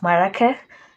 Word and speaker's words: Marrakesh: I really had to fight. You don't know how far I went just to get that pronunciation right. So yeah, it's Marrakesh.